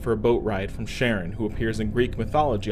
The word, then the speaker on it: Charon: Now, about the pronunciation, Charon isn't likely the Greek pronunciation, but I'm going off how astronomers pronounce Charon when talking about the moon of Pluto with the same name.